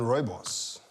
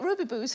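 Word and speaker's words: rooibos: yeah it's astonishing but is it better than ROI boss over the South African ji is news I'm so glad that you said I didn't know how to pronounce that Gregg was I've been calling it Ruby booze for yes I was 33 still ordering take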